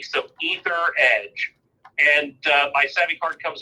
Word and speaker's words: Etheredge: it the last name is as rich and it's spelled e th ER e DG e so etherege and my seven card comes up I think